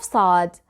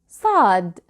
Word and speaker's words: صاد: First of all, the shapes of صاد. Please watch carefully. صاد. This letter sound has no equivalent in English. It is similar to the sound of S, but it is not the same.